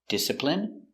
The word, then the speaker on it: discipline: Words ending in ine can have different pronunciations. All of these have the sound in. Imagine, examine, engine, discipline, feminine, and masculine.